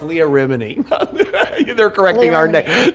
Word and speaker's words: Remini: So It's Leah Remini. They're correcting Leah our Remini. name. They're correcting us, pronouncing her name wrong.